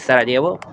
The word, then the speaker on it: Sarajevo: Acá en Bosnia, en los grupos de Facebook de, por ejemplo, latinos en Bosnia, yo estoy en Sarajevo, que se escribe Sarajevo, pero la pronunciación es Sarajevo.